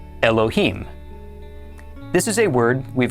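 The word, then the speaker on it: אֱלֹהִים: This is pronounced Elohim.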